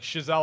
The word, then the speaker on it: Chazelle: love the fact that when I saw the nominations like shazel I was like oh I've been saying it right that's good I've been